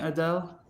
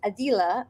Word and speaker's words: Adele: By the way, am I pronouncing your name correctly by saying Adele? You're saying it perfectly. Okay. I'm Persian, so the Iranians like to say Adele, and apparently in Arabic it's Adila, but I like to say Adele.